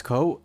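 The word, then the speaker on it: Kou: Hey, my name's Ko, that's spelled K-O-U, and this is That's Just Primed, Never Painted.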